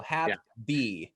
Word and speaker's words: Hapbee: by the way yeah the logo is a b so have b all right i get flack for that but it's spelled a little differently but we want people to be happy that's the point and so what we